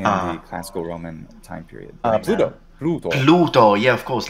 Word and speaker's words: Pluto: In English, you just say Pluto. Or Pluto. In your case, you're flapping because... That's right. Pluto in American, normal American English pronunciation. Yes. Or like pronouncing the intervocalic D.